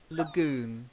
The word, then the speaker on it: lagoon: old Bayou and then Lagoon not lag la lagune try it look good yeah